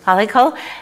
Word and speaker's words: Palackal: Am I pronouncing that right? Palackal.